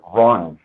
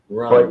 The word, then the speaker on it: Runge: Last name, I pronounce it Runge, but Runge. it's spelled. There's a professional baseball umpire that apparently has the same last name, and he pronounces it Runge.